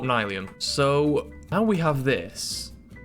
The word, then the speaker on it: nylium: Anyway, we've got the ender pearl and the warp nicelium. Is it nicelium? Nelium. Oh no, I pronounced that wrong. We got the warp nylium.